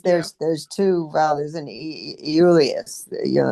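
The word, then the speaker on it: Iulius: And isn't it really that the the the first I the J is pronounced with a Y sound.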